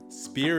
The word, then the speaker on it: SPPRR: SPEAR is spelled SPPRR, which is an abbreviation for the 5 components of your life and how to manage each one individually.